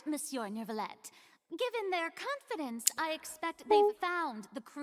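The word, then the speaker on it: Neuvillette: She doesn't say say ner that R does not exist whatsoever in French.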